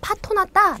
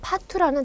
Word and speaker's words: 파투: 자, 파투 같은 경우에 한자인데 우리가 파토났다 라고 이렇게 오발음으로 많이 하지요. 하지만 한자어 그대로 파투라는 단어로 이렇게 표기하셔야 되고요.